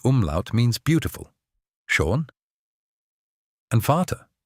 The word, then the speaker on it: Vater: schon And Vater, spelled v a t e r, means father. But remember, the v sounds like an f.